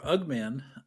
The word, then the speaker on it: UG-Man: It's called UG-Man or Ugman. Ugman is how I pronounce it.